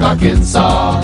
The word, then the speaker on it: Arkansas: also in Little Rock, Arkansas. It ends with an S, but don't say it, boy, when mentioning Springfield, Illinois.